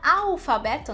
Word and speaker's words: alfabeto: No português eu diria alfabeto, né? Eu coloco um som de U no L. E isso no espanhol não existe. Alfabeto. Para você conseguir pronunciar esse som, coloca a língua lá em cima no céu da boca.